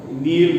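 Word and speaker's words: kneel: ಇಲ್ಲಿ ನಾವು ನೀಲ್, ನೆಲ್ಟ್, ನೆಲ್ಟ್, ಕೆ ಉಚ್ಚಾರ ಆಗೋದಿಲ್ಲ, ಕೆ ಇಸ್ ಸೈಲೆಂಟ್ ಹಿಯರ್.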